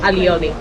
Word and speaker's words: alioli: It's called alioli. Aioli. Aioli, alioli.